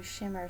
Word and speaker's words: Schimmer: people that inner sparkle shimmer and it's spelled s-c-h-i-m-m-e-r and because i wanted to have the chi inside which is your life force energy and then it just evolved to shimmer skin boutique after i